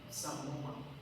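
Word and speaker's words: psammoma: se llama cuerpos de Samoma. Cuerpos de Samoma. Se escribe con P, P S A M. Samoma. Eh, doble M. Sam, M M O M A.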